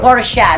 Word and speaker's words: Porsche: Ano pa porche Porsche Oo porche porsa ang tawag doon por ang pronunciation ng iba porsa porsa por O tapos